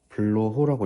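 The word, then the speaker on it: Bloch: 네, 블로어 정리. 블로어 정리. 블로호라고 읽고요.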